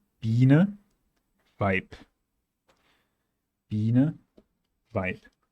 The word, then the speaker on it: Weib: The effect here is the same as when you have any consonant in Korean in the last position of a syllable. And it simply becomes more abrupt and more explosive.